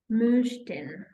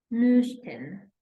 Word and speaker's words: möchten: And then we have möchten, möchten, hören, möchten.